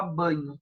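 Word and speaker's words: Bagno: principal diferença Marcos banho como se escreve ba GN o Magno mas se fala banho Ah se vocês forem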